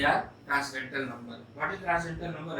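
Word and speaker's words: transcendental: Just like the number pi, इट is also ट्रांसडेंटल number. ध्यान दीजिए, N silent है.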